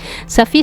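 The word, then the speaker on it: Safie: Le voy a pronunciar Safi, ¿ya? Suena más árabe.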